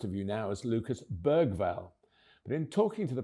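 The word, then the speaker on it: Bergvall: made it crystal clear with the difference of the letter G in Swedish, the proper way to say his second name is Berval, as in the late Sven Uran Erikson, Urine written begins with a G.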